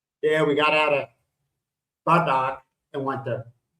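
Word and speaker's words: Batac: Yeah, we got out of Badak and went to, how do you say it? Badak? Batak.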